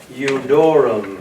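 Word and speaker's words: Iudaeorum: Jesus Nazarenus Rex Eudorum. Eudorum. Okay, So you get the L 200 is of Jews. silent now. Right. The L is silent, Eudorum. Now this is an I.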